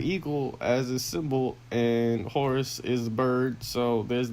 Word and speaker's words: Horus: Was his name actually spelled the way the Egyptian god's name is spelled, or was it Horace? Oh, no, Horus, not God.